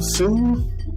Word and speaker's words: Tszyu: say his name tim soon you got it right tim kind of like too yeah which i uh